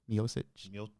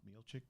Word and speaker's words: Miocic: Miocic. Miocic?